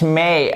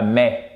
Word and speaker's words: may: Vous avez une diphtongue forte. May et pas mais. C'est pas le mois de mai, ok?